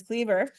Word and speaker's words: Kliewer: and we used to live here by Marcus Cleaver um and I checked if you weren't here